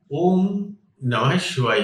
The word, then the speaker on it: शिवाय: ओम नमः शिवाय कुछ भावनाएं जागृत कर देता है। हा का उच्चारण अगर आप थोड़ा सा खींचते, नमः शिवाय, ओम नमः शिवाय, इसमें एक अलग महत्व है।